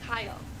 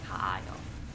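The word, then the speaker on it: 가요: It's kayo. Boom. Why? Because the last vowel in there is a. And again, we combine syllables, right? So it's kayo, not kaayo.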